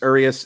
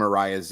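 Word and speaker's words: Urías: Luis Urias, and I apologize for calling him Arias as often as I do.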